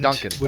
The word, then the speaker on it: Gedanken: Okay, how do you pronounce Gedanken then? Gedan. Gedankenexperiment. Gedanken.